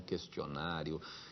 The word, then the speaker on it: questionário: Não existe o trema no caso, esse U não deve ser lido. Diga-se, portanto, questão, questionário e por aí vai.